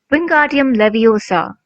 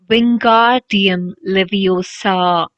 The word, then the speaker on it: Wingardium Leviosa: having much more luck Wingardium Leviosa he shouted women his long arms like a windmill you're saying it wrong Harry Hood Hermione snap Wingardium Leviosa make the guard nice and long you do it then